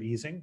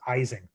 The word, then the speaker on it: Ising: Ising, and at least in North America, we almost universally mispronounce his name as Ising, not Ising. It wasn't until later that